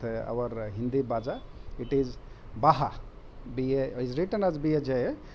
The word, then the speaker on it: baja: it is written as bsj but it is pronounced as a baja it is not bhaja as many of our you know as indian